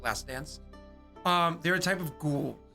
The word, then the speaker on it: Lacedon: Sorry, I pronounce it because it's D-O-N-S, but it's actually D-A-N-Z. It's how you pronounce it, Lacedans.